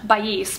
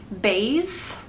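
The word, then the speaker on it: Baies: I've always thought it was pronounced Bais, but she pronounced it like Bays.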